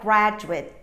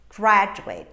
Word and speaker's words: graduate: pronounce it but then when this word is a noun or an adjective i'm going to reduce it as i reduce chocolate so how is it